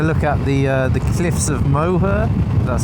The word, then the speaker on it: Moher: I'm going to be taking a look at the cliffs of Moher. That's how you pronounce it.